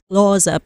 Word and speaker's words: Xhosa: I think in the language, there's like 5 critical clicks.